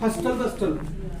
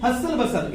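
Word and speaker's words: hustle bustle: Word यूज करते हैं हस्टल बस्टल। पता नहीं कुछ लोग ऐसा क्यों यूज करते हैं हस्टल बस्टल। ये बेटा टी साइलेंट है, T silent is नॉट हस्टल बसल, the word is हसल बसल।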